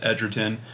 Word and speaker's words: Edgerton: you video where there's a robot voice saying Joel Ed Edgerton and then in the comments it's saying nope that's wrong I saw an interview he pronounces it ederon so I don't know